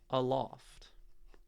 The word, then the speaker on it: aloft: For example, let's take the word aloft. The first syllable is second syllable is loft. There's much more weight, there's much more stress on loft.